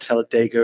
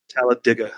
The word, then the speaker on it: Talladega: It's not Talladega or Talladega. So that's a big contentious point with us. Wait, how do you say it then? One more time. Talladega, like you dig a hole.